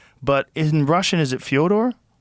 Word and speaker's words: Fedor: I've heard and when I was calling you Fedor, people are going, "Oh, he's saying that because Fedor Melonenko." I'm like, "Yeah, well that's kind of the accepted American pronunciation of Fodor, though." So, I I wanted to ask you if it was Fodor. Yeah.